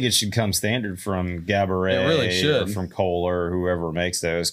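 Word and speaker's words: Geberit: should come standard from gabet from Coler whoever makes those cuz is that how you say it gabet it looks like Gerber it I'm pretty sure they pronounce it gabet I don't know maybe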